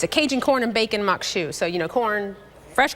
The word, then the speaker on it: Maque Choux: called Mok shoe and that's how you pronounce it it's spelled a little different they can see that